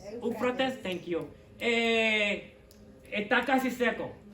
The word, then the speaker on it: Eufrates: pastores saben, que entonces, the Euphrates River, o Eufrata, how you say it? Eufrates. Eufrates, thank you.